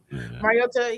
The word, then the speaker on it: Mariota: Mariota, he's he's gotten a a bad rap maybe